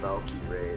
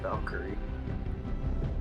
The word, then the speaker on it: Valkyrie: But like it's pronounced Valkyrie, not Valkyrie. Valkyrie sounds way cooler.